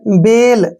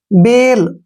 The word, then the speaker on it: bail: यहाँ देखिए पेन, ठीक है ना, PAIN पेन, BAIL बेल। अब इसमें देखिए AI के बाद क्या आया है, L, ठीक है ना, तो ए का जो साउंड होगा वो ए की मात्रा बनेगा। बेल, MAIN मेन, क्यों, क्योंकि एक आई के बाद